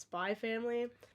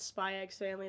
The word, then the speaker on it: Spy x Family: Well, I know it's most likely supposed to be pronounced Spy Family, but like I'm probably gonna call it Spy X Family.